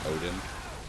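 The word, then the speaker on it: Oedon: It's spelled different from like, you know, Norse mythology, but it's still pronounced Odin.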